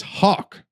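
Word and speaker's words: Haugh: for the 2023 class Thomas Hawk is how you pronounce his last name although it doesn't look like he's spelled like that yeah um but he's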